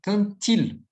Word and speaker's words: quand il: singular, vai ter um som de T. Quand-il. Se fosse quando ela, quand-elle. Se fosse quando a gente, ou quando estamos, assim, fazendo uso do sujeito oculto. Quand-on. Tá? Então, cuidado na hora de pronunciar o quand e o verbo iniciando, perdão, o pronome ali iniciando por vogal. Quand-il, quand-elle, quand-on.